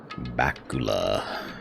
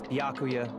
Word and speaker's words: Byakuya: Bakula. It's Byakuya.